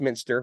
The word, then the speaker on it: Muenster: Uh although it's pronounced minster, which I learned right before the right before our recording.